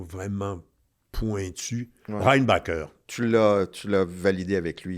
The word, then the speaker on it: Reinbacher: ne va pas, là, tu sais, dans la prononciation vraiment pointue. Ouais. Reinbacher.